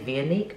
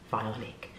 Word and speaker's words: Vionic: of this brand violently I used to say via leek but it is vital Nick you've just got to let it roll off your tongue Bionic roll with it